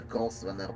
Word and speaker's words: Grosvenor: Professional az est is kiejtett a Grosvenor McCaffrey, de ezek itt mind úgy ejtik ki, mint hogy az S az nem lenne ott. hogy jönni, ez a silentes.